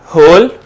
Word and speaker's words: whole: उसके बाद होल, WHOLE, होल, जिसमें हम क्या करेंगे, W को सर्कल करेंगे बिकॉज W की साउंड हमारे पास साइलेंट है।